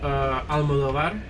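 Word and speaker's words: Almodóvar: Have any of you heard of Almodovar? Almodovar. No. Almodovar. No. Almodovar. I'm pronouncing it as American as possible.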